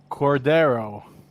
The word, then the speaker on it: Cordero: Hey, JJ, how do I pronounce that? Cordero.